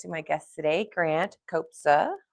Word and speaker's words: Kobza: Um, I'm super excited to introduce you guys to my guest today, Grant Copa.